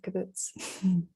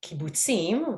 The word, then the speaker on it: kibbutz: and potentially you could correct me on my pronunciation of caboose i can start that so yeah i